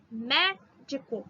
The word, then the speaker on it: médico: Médico. Mé é a mais forte, grifei.